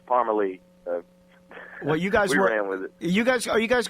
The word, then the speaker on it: Parmalee: it correctly so so so we like throw on an extra E Yeah throw an extra e put a in it and people still have a tough time pronouncing it sometimes but uh yeah it's Parmer Lee well you guys you